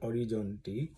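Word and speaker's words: Orizzonti: আর এই অরিজন্তি বিভাগ যেটা একটা ইটালিয়ান শব্দ অরিজনটি সে অরিজনটি মানে স্পেলিং হচ্ছে ও আর আই জিজি ও এনটি আই অরিজনটি ঠিকঠাক উচ্চারণ করতে পারলাম কিনা আমি জানিনা।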